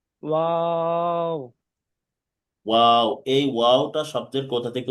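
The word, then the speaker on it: واو: দুই ঠোঁট গোল করতে দুটো হবে, গোল করে। মাঝখানে একটু ফাঁকা রাখতে হবে, এই যে খেয়াল করতে হবে। ওয়াও। ওয়াও। হুম ওয়াও। ওয়াও।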